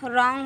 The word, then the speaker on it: wrong: जैसे कि रॉन्ग होता है WRONG रॉन्ग, लेकिन वो रॉन्ग पढ़ते हैं RONG रॉन्ग पढ़ते हैं।